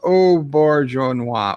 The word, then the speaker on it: Auberjonois: Pronounced Auberjonois.